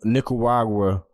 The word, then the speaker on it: Nicaragua: At that time, Nicaragua. I probably mispronounced that crazy, but nah, you said it right.